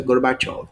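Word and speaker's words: Gorbachev: Zinho chamado mikil gorbachov escreve assim mas a pronúncia gorbachov o que que gorbachov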